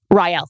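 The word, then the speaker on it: R'lyeh: Rael. Thank you. Rael. Rael. We should have one of the Cult of Lore guys pronounce it.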